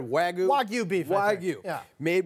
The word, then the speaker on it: Wagyu: This is specifically the American Wagyu burger. Yeah. Say it right, Wagyu?